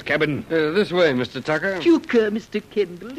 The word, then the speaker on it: Tucker: Tucker, we... Tuker, Captain. It's pronounced Tuker.